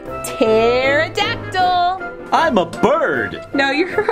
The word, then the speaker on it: pterodactyl: word we can spell p t e r o d a c t y l what is that spell I've never seen that word before well the p is silent it actually spells pterodactyl oh I have a